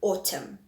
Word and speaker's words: autumn: Then words that end with a silent letter, we've got tomb, we've got thumb, womb, bomb. Then we have dam, hem, column, and autumn. So common letters there, it's the N at the end and the B at the end.